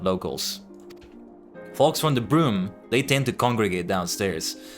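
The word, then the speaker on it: Brume: It's like broom like you know the thing you used to sweep. Exact same pronunciation.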